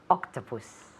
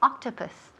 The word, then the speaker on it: octopus: Octopus. Perfect. Repeat. How do you say? Yes, octopus. Octopus. Octopus. Perfect. Muy bien. Muy buena pronunciación aquí. So, octopus. Octopus. En la primera sílaba, pues recae el énfasis.